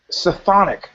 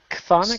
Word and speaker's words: chthonic: This woman I know had asked me in a very kind of chthonic. How about chthonic? Isn't it chthonic? Chthonic? C-T-H-O-N-I-C. I don't know how to pronounce it. I believe it's chthonic.